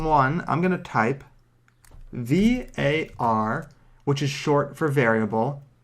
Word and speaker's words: var: i'm going to type var which is short for variable it's usually pronounced VAR so if i say